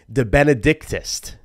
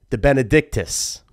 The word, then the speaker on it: De Benedictus: This is, right, pronounced De Benedictus. De Benedictus. De Benedictus. De Benedictus. It's a five-syllable last name.